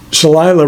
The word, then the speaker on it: Shalila: Shalila rhymes with Delilah says, I reuse the heavy-duty paper plates in the microwave.